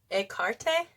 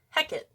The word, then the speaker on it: Hekate: But in Greek, they say to pronounce it like Hekate, Hekate. So like Hekate, Hekate, Hekate, Hekate in Greek. And then in Shakespearean, it's Hecate.